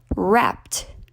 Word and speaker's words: wrapped: the past tense wrapped the pronunciation of the IDI ending here is a T at the end wrapped that's because the infinitive